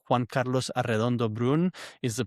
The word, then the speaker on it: Arredondo: Um and it's for Eddie's benefit and for the audience it's Juan Carlos Arondo Brun is the pronunciation.